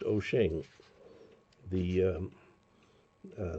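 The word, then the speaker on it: Wouxun: So it's wo ux n pronounced oen the um uh spelling of Chinese words in English.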